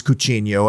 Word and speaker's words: Coutinho: my final honorable mention phil coutinho or coutinho in portuguese it is cucino and i'm trapped between the pronunciations i know it drives